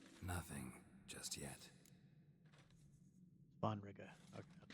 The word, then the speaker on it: Svanrige: Svanrige. Okay, that's how it's pronounced, and that's who would become king otherwise.